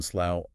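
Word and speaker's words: Slough: The location of the permanently lost iPhone suddenly makes the pronunciation slow unforgettable.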